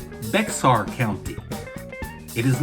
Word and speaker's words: Bexar: the county tax office and they might say Bexar County.